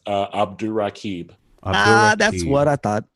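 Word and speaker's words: Abdurraqib: yeah how's it going y'all uh it is pronounced uh abdul rakib ah that's what i thought yeah i was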